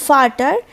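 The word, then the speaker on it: Vater: important এটা most important ওরা ভি এর উচ্চারণ করে ফাউ যেটা আমরা এফ এফ কে ওরা ভি দিয়ে রিপ্রেজেন্ট করে মানে ভি এর মত সাউন্ড করে তো ফাটার ফাটার মিন্স হচ্ছে ফাদার তারপর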